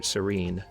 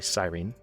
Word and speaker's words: Cyrene: his way down to serene to take it that's how you pronounce it I think it's actually Cyrene might be a holdout from the time of Cyrus the Great maybe it's called out